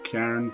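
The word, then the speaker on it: Cairn: It's called Trust you to Karn. be happy about this. C-A-I-R-N. Karn. I don't know how you say it.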